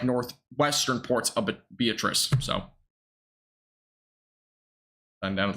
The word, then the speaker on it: Beatrice: Looked up the pronunciation of it. It was. Beatrice.